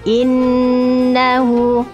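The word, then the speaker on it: إِنَّهُ: Jangan gopoh-gopoh, jangan terburu-buru kalau membaca innahu. Berhenti dulu, dimendengungkan dulu. Maka membacanya innahu.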